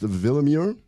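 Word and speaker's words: Willeumier: Kristen, it's spelled Willemure. It's pronounced Willemure.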